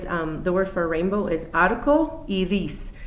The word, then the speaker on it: arco iris: Another item that students often ask me about is how you say rainbow, and that is, the word for rainbow is arco iris. It's A-R-C-O-I-R-I-S, arco iris, okay, for rainbow, because a lot of kids like that too.